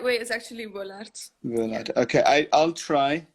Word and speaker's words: Wullaert: Tessa, how do I pronounce your last name so I don't completely butcher it? Well, in my language, it's Wullaert, but like in German, well, when I played in Germany, they said like Wullaert or something.